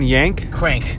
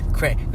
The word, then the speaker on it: Krank: Yank? Crank. Close. Crank Systems, just the best gym in Nutley, New Jersey, baby. So if you're around, check it out. It's spelled YANK, right? KRANK, Crank with a K.